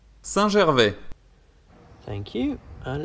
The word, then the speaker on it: Saint-Gervais: over here near Chamonix, there are many pump tracks, and this one is in this town, which is pronounced Saint-Gervais.